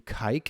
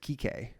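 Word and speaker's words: Kiké: But literally his name's spelled Kike Hernandez. He just pronounces it Kike. But it's like, you know, in English it says Kike.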